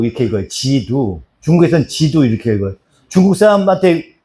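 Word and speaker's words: 基督: 그러면은 지두 이렇게 읽어요. 지두.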